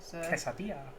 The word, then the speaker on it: quesadilla: kisses yeah yeah which is the american way yeah yeah americanized it butchered it i can't say it the mexican way quesadilla but it's not okay